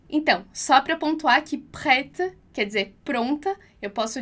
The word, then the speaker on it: prêtes: comigo lá, prête, então esse E com acento circunflexo que a gente vai pronunciar o som de E, prête, prête, e o S do final que a gente não vai pronunciar, prête, prête.